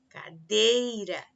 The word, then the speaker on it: cadeira: por exemplo as palavras cadeira, cadeira, dei é a mais forte, sendo portanto a penúltima.